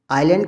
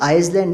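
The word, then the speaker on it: island: या आप कभी आइलैंड कहते हैं तो आप आइसलैंड नहीं कहते, आइलैंड कहते हैं और स्पेलिंग में एस लिखते हैं।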